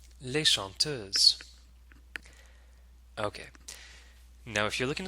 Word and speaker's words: chanteuses: we can say les chanteuses. Les chanteuses. Okay. Now if you're looking at the words here, you'll notice that S is added to the end of the plural noun, but it's not pronounced.